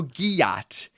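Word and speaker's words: gyat: sound very flattering okay so so Gat rhymes with yach and it means big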